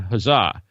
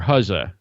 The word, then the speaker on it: Huzza: fire talk crowdcast and huzzah or huzza as I think the founders pronounce it huzza that they kind of